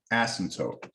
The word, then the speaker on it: asymptote: This is called a vertical asymptote, A-S-Y-M-P-T-O-T-E. It's a weird word. Asymptote. It's kind of like the P is silent.